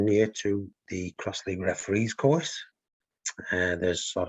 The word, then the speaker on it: X-League: good okay Okay so cross League written with an X but pronounced cross League it's a limited contact